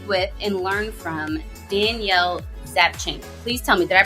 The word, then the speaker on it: Zapchenk: opportunity to speak with and learn from Danielle zapching please tell me did I pronounce that correctly you did it Tina that